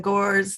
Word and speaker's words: Gores: chorus okay thank you my name is gores that last name is spelled g-o-r-e-s and i yes i do have